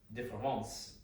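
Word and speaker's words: différance: So this is Derrida's différence, which is pronounced the same as the French différence.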